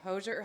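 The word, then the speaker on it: Hozier: Hoser. Hosier. Hoser. Hosier.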